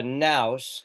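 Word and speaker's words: ναῦς: The very formula nouse and there's the there's the Greek for now the the V is actually a new that's an N in Greek that's pronounced Nouse.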